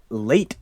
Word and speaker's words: Lait: And it is called Late Night Lullabies by Late Fitzpatrick. His first name is spelled Lait Fitzpatrick.